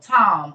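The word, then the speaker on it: תם: perfect in Hebrew is Tam t-a-m or Tom t-a-m but it's pronounced t-a-w-m so Tom or like my daughter's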